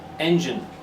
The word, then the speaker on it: engine: It's the first syllable. Engine. So the gine becomes gin.